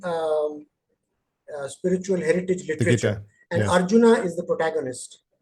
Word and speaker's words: Arjuna: The contemporary spiritual warrior faces an equally calous challenge as um how do you pronounce it? our arana in Kuru. Arjuna Arjuna it's a Gita is a spiritual text